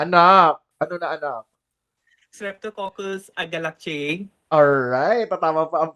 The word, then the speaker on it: agalactiae: Streptococcus agalactiae. Alright, tatama pa ang pronunciation.